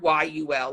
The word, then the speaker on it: Yul: it p-y-u-n-k-a-n-g new word y-u-l like Yul Brenner okay yeah okay but